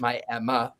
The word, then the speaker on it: Miami: the Coleman Theater in Miami, Oklahoma. They call it Miami, Oklahoma, but it's spelled Miami.